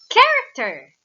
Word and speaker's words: character: is a consonant digraph character character very good character doesn't have a consonant digraph because the letter h here is a silent letter always remember that these